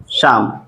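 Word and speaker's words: psalm: होता है ठीक है तो पी एस ए एल एम ठीक है इसको हम क्या पढ़ेंगे इसमें देखेंगे तो आपके दो दो वर्ड साइलेंट मिल रहे हैं एक हमारा पी भी साइलेंट है और हमारा क्या है एल भी साइट देखि य तो हमने बताया भी था कि अगर एल के बाद एम आता है तो एल क्या होता है साइलेंट होता है यहां पर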